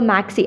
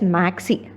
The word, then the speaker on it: MACIS: So Maxey, I am pronouncing it as Maxey.